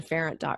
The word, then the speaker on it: Pharant: so I'm very fortunate I'm the only data parent in the world so last name is spelled ph8 ra NT and so if we want to head over to ferrant calm or you just Google search my name